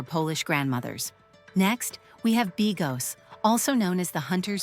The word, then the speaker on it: bigos: Pro tip, it's pronounced bigos, but honestly, after one bite, you won't care what it's called.